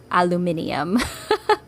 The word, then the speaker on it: aluminium: talk about pronunciations that there is an alternative spelling for aluminum so I apologize to all the British and whoever else spells it with n i u m at the end because then I understand why you pronounce it aluminium so I learned something